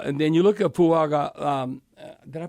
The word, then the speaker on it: Fuaga: here so uh and then you look at fuaga um did I pronounce his name right yeah yeah okay he's